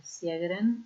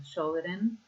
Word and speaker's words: Sjögren: Recién estuvimos con la charla de artritis reumatoidea y ahora vamos a seguir con la clase de síndrome de Sjögren o Sjögren, según como podamos pronunciar.